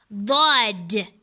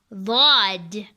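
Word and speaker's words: ض: Dhod. And it's similar to how you say it died, but you're going to make it with the sound of dhod.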